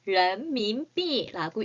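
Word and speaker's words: 人民币: 중국의 화폐를 런민비라고 읽습니다.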